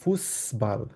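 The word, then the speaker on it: Fußball: music হোরেন and Ryzen হ্যাঁ আমরা যখন ফুটবল না বলে আমরা এটাকে বলতে হবে ফুসবল ঠিক আছে কারণ জার্মানে ফুসবল বলা হয় ঠিক আছে তো কিভাবে ফুসবলটা বলা হয় আমি জাস্ট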